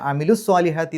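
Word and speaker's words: عَمِلُوا: അപ്പോൾ നീട്ടലിന് ശേഷം ഹംസത്ത് വസ്ൽ വന്നാൽ നീട്ടൽ നഷ്ടപ്പെടും. അപ്പോൾ അമിലു എന്ന് പറയില്ല, അമിലു സ്വാലിഹാത്തി എന്നേ പറയുള്ളൂ, നീട്ടാതെയാണ് പറയാം.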